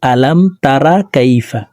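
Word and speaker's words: أَلَمْ تَرَ كَيْفَ: আলাম তারা কাইফা, আমরা অনেকে এইভাবে পড়ে থাকি আলাম তারা কাইফা, এখানে তারা পড়ে থাকি, রকে মোটা করে উচ্চারণ করতে হবে।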